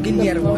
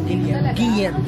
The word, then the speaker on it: Guillermo: Pronunciation 101 sa Spanish, pag dalawang L, Y ang basa na. So yung Guillermo, hindi siya Guillermo. Guillermo.